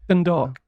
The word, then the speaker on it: Dundalk: But first going to Dundalk, I think it's pronounced. I don't know. Dundalk.